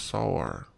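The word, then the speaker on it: שָׂעַר: h 8175 haha okay it says it's pronounced sour okay it says to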